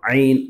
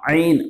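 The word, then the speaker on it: ع: இப்போ ஐனுங்கிற எழுத்து எப்படி உச்சரிக்கன்னு சொன்னால், நம்ம தொண்டையில் இருந்து நல்லா தொண்டை அப்படி கொஞ்சம் யாராவது வந்து பிடிச்சாங்கன்னு வச்சிங்களேன், நெரிக்கிறாங்க, அப்போ எப்படி எழுத்து வரும்? அந்த மாதிரி தொண்டையிலேருந்து வரணும் நல்லா ஆ ஆ அப்படின்ட்டு.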